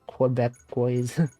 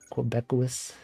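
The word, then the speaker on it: Québécois: How do you pronounce that word? Quebecois. Quebecois cats.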